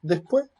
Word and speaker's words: después: Es muy común, por ejemplo, que cuando va en final de enunciado, cuando uno dice la palabra después, esta que no está en el final, sino que está en medio de la palabra, se aspira, pero la última se pierde, no se dice.